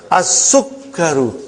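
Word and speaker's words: السكر: As-sukkaru. Put a shadda on kaf also.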